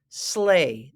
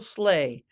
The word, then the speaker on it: sleigh: i g h the E and the I and the G and the h right here make the long a sound like in the number eight sleigh that's a beautiful sleigh Santa has a great